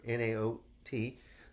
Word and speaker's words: Naot: One of our best shoe companies is, we pronounce it Naot here, N-A-O-T.